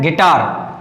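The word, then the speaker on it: guitar: है ये क्या है गिटार क्या है गिटार देखो यू आई साथ में दिया है यू आई तो यू क्या है साइलेंट है तो ये क्या है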